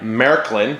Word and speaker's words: Märklin: today ticket to ride Marylyn that's how you pronounce it that there's two dots